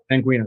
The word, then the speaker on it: Sanguina: And that is Sanguina. Am I pronouncing that correctly? Sanguina, that's correct.